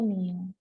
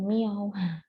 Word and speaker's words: μ: M, mu, seperti M ya, dia bacanya mu. Mu bukan miau.